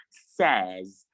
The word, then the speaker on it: says: we have it in says says not says please it is not says it is says s-a-y-s is pronounced says and then we have